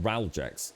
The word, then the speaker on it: Ralgex: Oh, it's pronounced Ralgex. It's a deep heat.